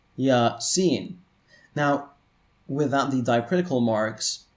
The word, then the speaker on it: Yasin: These are pronounced Yasin.